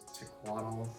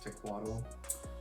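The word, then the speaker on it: Tecuatl: from spring summer 2020 which was tequatl i think that's how you pronounce it i never have heard it said by anybody who could trust know what it's actually called i believe it's tequatl um very interesting pair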